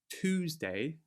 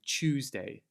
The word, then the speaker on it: Tuesday: So rather than saying Tuesday, we will say Tuesday. It's Tuesday, innit? Tuesday. So that TU turns to like a CH sound.